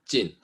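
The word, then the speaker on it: 晋: And this is the 4th tone of the character, right? Jin, because there are other dynasties which is spelled the same but pronounced with different tone, like the Jin Dynasty,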